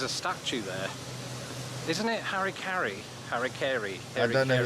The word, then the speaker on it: Harry Carey: You know, those words, because we don't have the merger of Mary, Mary, Mary. So it's very hard for me to say his name and to get it right in the way I speak.